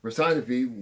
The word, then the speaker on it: Persephone: Persephone.